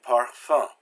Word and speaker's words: parfum: Now there's also U-N and U-M, and this is less common, except for the word a, an, or So it's like pronounced like in grunt. We have that sound. So we have the words lundi, and parfum. Now it's interesting that in modern French, this sound is starting to disappear, and it's becoming more like an.